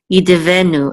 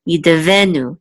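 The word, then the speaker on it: יִדְּבֶנּוּ: Yide venu. And the accent mark is this right here. So we know that the accent mark is in this middle syllable. Yide venu.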